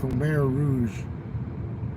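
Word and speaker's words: Khmer Rouge: Kare Rouge. It's spelled with a fucking K H M E R.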